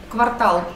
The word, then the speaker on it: квартал: потом кто-то что-то говорит а слова кварталы только квартал на последний слог ударений независимо городской это квартал